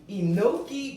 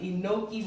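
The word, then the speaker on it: enoki: and place that on the smooth to the enoi mushroom that's how you pronounce it inoi mushrooms let's cut this baby open and you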